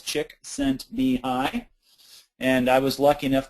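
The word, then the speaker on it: Csikszentmihalyi: Chick sent me high and it's easy to pronounce. It's four syllables. Chick sent me high.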